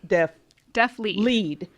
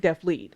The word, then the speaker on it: DeafLEAD: And I want to make sure that I'm saying the name right, because I pronounced it wrong. It's DeafLEAD. Mm-hmm. Okay, DeafLEAD.